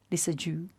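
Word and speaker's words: Lissajous: Is the S at the end silent? Lissajou.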